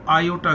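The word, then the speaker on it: iota: बोलेंगे आप इसको आईओटीए लिखेंगे आई लेकिन प्रोनाउंस जो करेंगे वो आईओटीए करेंगे तो दिस वे आप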